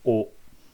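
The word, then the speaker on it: を: a sentence um so o but when you look it up in a chart it's going to say well but just know it's pronounced o it's pronounced the same as our o here hatsune pronunciation is the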